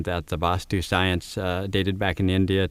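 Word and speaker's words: Vaastu: Vastu pronounced with a A is pronounced quickly and spelled V with one A, S-T-U, and Vastu pronounced with the longer time held for the A and spelled V-A-A-S-T-U.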